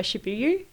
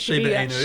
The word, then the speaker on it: Shiba Inu: But then I kept hearing about its younger cousin, if you were Shibuya. Is that how you say it? Shiba Inu. Shiba Inu. Yeah, that's it.